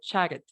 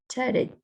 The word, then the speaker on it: chatted: Con ED. Perfecto, chatted. Chatted. Chatted. La razón por qué estoy pronunciando estas dos T's como R es porque están entre dos vocales.